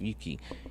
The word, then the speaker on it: Ryuki: It's pronounced Yuki. You drop the R, right? You don't see Ryuki. You just say Yuki because in the last video he said Yuki, so I think you just dropped the R.